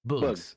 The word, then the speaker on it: bøøgz: Boogs.